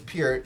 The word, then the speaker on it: Peart: Rush and the late great Neil Peart. Hope I'm saying it right. I was calling him Neil Peart for the longest, right? But he was Peart, so I hope I'm saying it correctly.